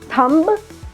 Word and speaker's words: thumb: like plumber right again a combination of MB letter B is silent plumber not plumber right